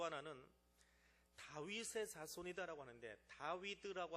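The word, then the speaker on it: דוד: 또 하나는 다윗의 자손이다라고 하는데 다위드라고 하는 히브리어 글자 다위드라고 합니다. 다비드라고도 하고 근데 그 글자를 합치면 14라는 글자가 나와요.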